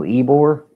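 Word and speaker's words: Ybor: Yarver City, right? In Tampa. I mean that's pretty historic. Oh, Eore.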